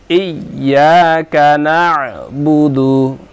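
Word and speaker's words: إِيَّاكَ نَعْبُدُ: নাস্তা ইয়াকা নাবুদু ইয়াকা নাবুদু ইয়াকা নাস্তাাইন আরজিতে হবে আবার দেখুন ইয়াকাবুদু আইনের উচ্চারণ শক্ত করে করতে হবে এখানে অনেকে আমরা আইনের উচ্চারণটা করতে পারি না গলা চিপ দিয়ে উচ্চারণ করতে হবে ইয়াকা নাবুদু ইয়াকা নাস্তাাইন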